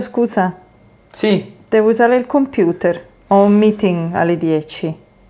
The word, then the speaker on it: computer: And as I said earlier, it's always worth doing the accent in the Italian way because that's how they pronounce it, even if it feels a little bit silly.